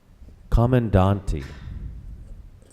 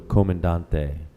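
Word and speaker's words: comandante: begin round number eight with speller number two commandant e um can I win with the virgin sure and I'll give you an alternative pronunciation as well this word is from a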